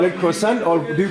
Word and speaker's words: croissant: Do you call it croissant or do you call it something else in French? croissant. Croissant. Yeah. That's how you say it in French.